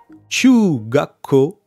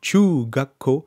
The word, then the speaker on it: 中学校: gacko pour l'école primaire et chouga quo pour le collège tchouga quo pour le collège comme tchou tchou comme chugoku comme la langue jab chinoise